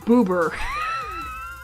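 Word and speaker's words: ブーバー: name is I you not booba booa I mean granted that's just how the Japanese pronounce it it's pronounced boober man I've had way too much of this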